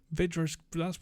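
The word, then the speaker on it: Vydra: Vedra, however it's pronounced. Vidra's, it's pronounced correct.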